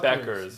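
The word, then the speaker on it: Bueckers: How do you pronounce her last name? Beckers.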